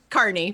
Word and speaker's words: Kearney: It's Kearney. Carney, but yeah. Carney, oh, sure. Carney. Well, that spelled like Carney.